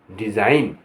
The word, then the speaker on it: design: यहाँ जी का साइलेंट होगा। बिनाइन माने दयालु, हानि रहित। DESIGN डिज़ाइन, डिज़ाइन माने नमूना।